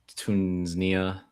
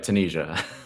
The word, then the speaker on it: Tunisia: Uh I always pronounce this country wrong. Tunia. Tanzania. How do you say it? Tunisia. I thought it was Tunisia. You're right. Tunisia.